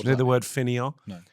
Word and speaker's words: fainéant: Okay, what's Do you know the word fainéant? No. It's a French word which kind of means sort of absurdist slacker sort of things that sort of thing. Blagger. Fainéant?